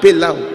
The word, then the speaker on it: Pelau: Rhymes with now. Lao. Pelau.